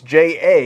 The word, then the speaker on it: J.A.: but he pronounces it J, as in just like J. That's Jason, stupid. Jacob, Jake. Yeah, it's just J.